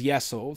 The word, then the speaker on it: Yesel: know, first name Essel, Russian E, pronunciation is different, like Y-E as in yes. So then they both agreed, yeah, better translation is Yesel.